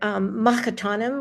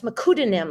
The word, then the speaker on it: machatonim: And I reached the word machatonim, which means, the sort of in-laws, the family you marry into. And she pronounced it as Makudanim, like it was an Irish surname.